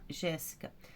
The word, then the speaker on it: Jéssica: Jéssica, Jéssica, ó, o Gé, terceira, antepenúltima.